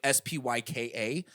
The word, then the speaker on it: Spica: astrologers say SPYCA, and it pisses me the fuck off because in every text it's translated as SPYCA, pronounced like SPYKA, but it's spelled SPICA.